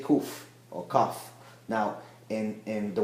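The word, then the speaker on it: קוף: Kuf is one of the letters. Kuf is like K in English. So most people say kuf or kaf.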